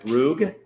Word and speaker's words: Brug: Now, Rachel, do you pronounce it Brug? Yes.